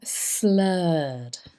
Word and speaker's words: slurred: was an interesting one slurred so it's an ER sound slurred and that means unclear